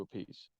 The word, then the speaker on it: Appice: the last name because he hears all different pronunciations. So Yeah. he asked Carmine, what do I pronounce? How do I pronounce it? What's the easiest way? And Carmine asked Rod, well, what do you hear it? He goes, a piece. So he changed it to a piece.